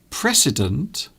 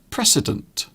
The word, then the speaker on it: precedent: The words are precedent and president. So there is a slight difference in the way they're pronounced. So the first word is precedent.